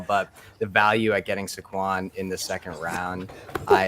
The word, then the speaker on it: Saquon: official here sure sure official pronunciation is Sequon Barker thank you thank you